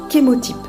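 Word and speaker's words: chémotype: essentielles qui ont un kémo type c'est à dire qu'ils vont préciser la race chimique entre parenthèses ça s'écrit ch mais ça se prononce bien qu'émotif alors ceci est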